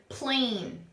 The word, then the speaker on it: plane: But if I add my magic E, my silent E at the end, it makes the A turn into a long A sound. And now it's the word plane. Plane.